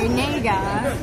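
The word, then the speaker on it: 네가: No, it's spelled N-A-E-G-A, Nega.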